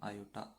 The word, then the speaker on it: iota: और जो under root -1 होता है उसे क्या लिखते हो, आयोटा, ये 11th में है ना, ठीक है। अंडर रूट -1 को अपन लिखते हैं आयोटा से, इसे बोलते हैं अपन आयोटा, IOTA।